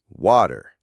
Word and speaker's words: water: So instead of saying w with that hard puff of air, an American speaker's tongue quickly flaps against the roof of their mouth.